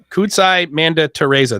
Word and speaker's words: Kudzai Manditereza: in the Quorum yes it's cool so kudzai kudzai Manda Teresa that's how you pronounce it right yes that's correct why don't